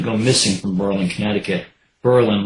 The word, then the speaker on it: Berlin: missing from Berlin Connecticut Berlin like the one in Germany pronounced with the accent between syllables like Pearl and preposition and God forbid local residents hear you pronounce it the other way ours was a nice